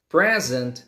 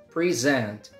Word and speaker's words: present: show it's a verb some words in English they change the stress syllable whether it's a verb or a noun for example present present is a noun the first syllable is stressed present but present is a